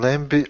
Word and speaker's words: lamb: 10 times more than lambie or chicken it's true it's true good yeah right there in the first paragraph it's true okay one thing uh lamb we the b is silent kind of we don't